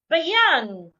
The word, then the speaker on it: beyond: In the word market, I also need to say the first part louder, longer, and clearer. But in the word beyond or behind, it is